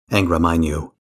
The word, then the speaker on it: Angra Mainyu: Now, before I wrap up, I need to talk about Angra Mainyu, which, near as I can tell, is actually pronounced like that. Hard A.